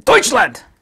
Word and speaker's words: Deutschland: The folks in Deutschland, you have to say it like that.